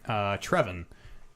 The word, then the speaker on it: Trevin: Our first one comes in from Trevin, which rhymes with Drebin.